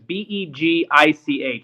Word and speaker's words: Begich: And I don't know if it's actually pronounced Beekich. That's the best I can do. It's Begich.